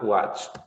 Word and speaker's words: watched: If you have the sound ch, when you have the ch sound, for example, if you have like this, so you would say watched with T pronunciation.